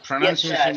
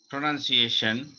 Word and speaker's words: pronunciation: নাই, অত একদম নর্মাল প্রোনাউন্সিয়েশন। আর যেটা আমেরিকান, এটাতে প্রথমে একটু চাপ আছে, এরপর শেষের দিকে ফ্ল্যাট।